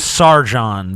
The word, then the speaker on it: Sargon: Sargon, Ben. It's a soft G. Thank you, Comrade The G Sargon. lost its hardness.